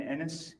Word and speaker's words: Enis: My name is Enis. E N I S. Thank you. It rhymes with tennis, not other words.